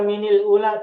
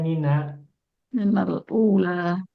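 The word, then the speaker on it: مِنَ: sebelumnya kasrah harakatnya mi maka minal bukan minil kirun laka minil ula tidak ada minil ula kenapa karena sebelumnya mi kasr maka dibacanya minal ula.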